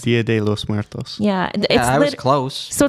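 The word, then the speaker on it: Día de los Muertos: I know I mispronounced it. Can you say it right, Marcus? Dia de los Muertos.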